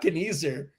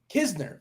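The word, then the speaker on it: Knizner: It's not Kniezer. Is it Kisner? Nitzer? What is it? Kisner.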